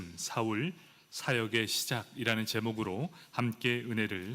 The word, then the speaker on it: 사울: 사울, 그 이름을 히브리어로 말하면 사울이 됩니다. 그리고 헬라어로 발음하면 바울이 됩니다.